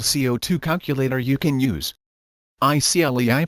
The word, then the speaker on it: ICLEI: ICLEI pronounced ICLEI believes you should know, and of course want to know, the amount of your yearly direct personal carbon dioxide CO2 emissions.